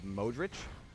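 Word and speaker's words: Modrić: uh name ending and the pronunciation is usually like itch.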